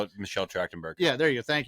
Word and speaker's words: Trachtenberg: it until I saw this episode, is Michelle Thatcherberger, or however you say her name. Michelle Trachtenberg.